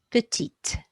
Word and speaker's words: petite: But when silent consonants are followed by a vowel, they can often be sounded. It makes them sound, and that's what's happening here. So it's no longer grand, but grande, no longer petit, but petite.